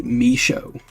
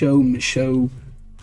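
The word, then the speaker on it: Micheaux: It is pronounced Larry Michaud. Michaud.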